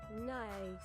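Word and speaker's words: gneiss: Nice. So you say it nice.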